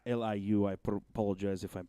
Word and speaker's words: Liu: he gets it done can Lou its Liu I propose as if